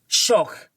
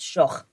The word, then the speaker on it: Schoch: It's a German last name. It's Schoch. That's how it is. It's Schoch.